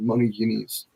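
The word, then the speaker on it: μονογενής: And monogenes is the pronunciation, the modern pronunciation, monogenes.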